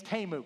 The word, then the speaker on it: Temu: Yeah, he's Temu.